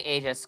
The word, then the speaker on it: Aegis: As you mentioned, Aegis and or Agis. It doesn't really It doesn't really matter. I pronounce it Egis because that's how I uh Well, I'm going to say Aegis cuz it's going to be an accent thing at this.